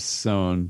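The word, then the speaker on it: Sohn: really into this artist named sone which is spelled like john but with an s instead of a j this is the s-o-h-n yeah uh he did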